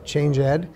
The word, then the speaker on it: ChangED: and look for us changeed spelled like changed pronounced change Ed uh you can also visit our website that where they can directly link into our episodes It's change ed.